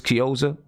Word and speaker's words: Chiozza: Chris how do you say his name Chris chiozza right that's it backup point guard that's the